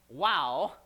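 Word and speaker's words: waw: It says, the interclausal wow, that's how you pronounce it, the interclausal wow before a non-verb constituent has a disjunctive role.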